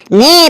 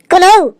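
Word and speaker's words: know: নে বল কি লিখলাম এটা। স্যার এটা লেখা আছে কে এন ও ডব্লিউ কনৌ।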